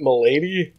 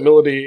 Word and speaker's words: Milady: note we're going to talk about melody or it looks like you'd want to pronounce it Milady which would be a dumb name if you ask me but uh everyone pronounces that melody in the English dub I don't know how